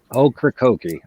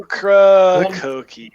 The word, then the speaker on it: Ocracoke: Ocracoke. I'm told. Ocracoke. Okefenokee. It's like I'm told that's how we pronounce it. Ocracoke.